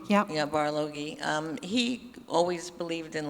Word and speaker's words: Barlogie: Bartolome, I'm probably saying his name wrong, the old pioneer. Barloghi, yeah. Yeah, Barloghi.